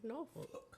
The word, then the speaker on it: Norfolk: syllables on Norfolk, aren't you? No. NAW. Norfolk. Okay, all right. My bad. My bad. That's how we say it.